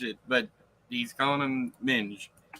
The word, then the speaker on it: Minge: he's calling him Minge do you think people will pronounce that Ming maybe I don't know it's not m-i-n-g it's m-i-g-e m-i-n-g-e hmm yeah I gotcha yeah it's a British slang for female genitals but anyways I knew that before I looked it up but I was just looking up pronunciation and yeah the a Ming is without the e and Minge is anyways but like I